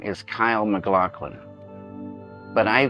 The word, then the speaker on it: Kyle: And Cale, your full name is Kyle MacLachlan, but I call you Cale. And I remember why I call you Cale. Dino de Laurentiis could never pronounce Kyle's name, called him Cale.